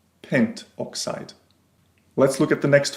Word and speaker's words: pentoxide: Note that in order to avoid awkward pronunciations, we often drop the final A or O of the prefix. So rather than having pentaoxide, we have just pentoxide.